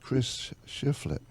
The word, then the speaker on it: Chris Shiflett: And we're here with Chris Shiflett. Wow, you pronounced my name right.